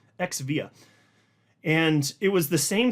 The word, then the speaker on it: xVia: they had a branding called Xvia XVA is how you spell it Xvia and it was the